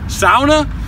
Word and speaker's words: sauna: Get a massage, do the hot sauna, the ice bath, the Turkish bath, the sauna, or as my good friend Steven and the cruise told me, it's pronounced sauna.